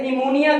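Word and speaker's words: pneumonia: जैसे निमोनिया के अंदर N से पहले P आई, ये रूल भी है, मगर बाद वर्ड्स ऐसे मैंने देखे हैं जहां रूल अप्लाई नहीं होता।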